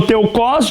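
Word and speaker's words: τεῦχος: Como é grego, geralmente algumas palavras, a exemplo do hebraico também, a tônica ou a a a sigla ou a sílaba forte é no final.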